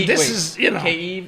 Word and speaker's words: Kyiv: Listen, Kyiv. Oh, that's how you say it. Okay, my bad. I'm saying it wrong.